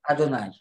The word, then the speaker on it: Adonaï: Adout, c'est pour pas prononcer Adonaï. C'est ça. Adonai. Oui. C'est-à-dire c'est la façon qu' qu'on prononce le nom Yud Kevavk. Chaque fois qu'on le voit, on dit Adonai.